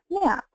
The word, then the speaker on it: MMAP: locations Now power and acronym is pronounced map um and then our